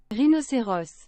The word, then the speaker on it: rhinocéros: Rhinocéros. Oh, my goodness gracious. Is that like not 1,000 times better? Is that not 1,000 times better? Say it in English. Rhinoceros. Rhinoceros. There we go. And then... Rhinocéros.